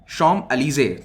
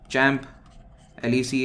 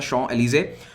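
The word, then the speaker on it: Champs-Élysées: तो ये है शॉम एलिजे, थोड़ा सा इसका प्रोनाउंसिएशन अजीब सा है और इस तरह से इसको लिखते हैं, चैम्प एलिसी ऐसा कुछ कह सकते हैं आप, लेकिन इसका प्रोनाउंसिएशन होता है शॉम एलिजे।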